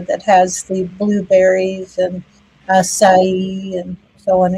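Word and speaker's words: açaí: Acai. That's how you pronounce that.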